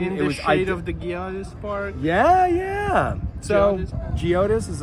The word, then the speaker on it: Geodis: So we were here at soft G. It's a soft G. That's how they say it on TV.